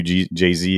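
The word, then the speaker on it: Jezi: so they thank you jay-z is how you say jesus and creole which is funny dude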